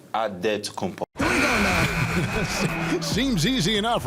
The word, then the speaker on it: Antetokounmpo: The Nigerian way, you gotta say it with a D, so it's Antetokounmpo.